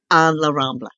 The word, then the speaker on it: La Rambla: I've went on Google to see how to pronounce it and I just can't do it. Las Ramblas or Passeig de Gracia? La Rambla.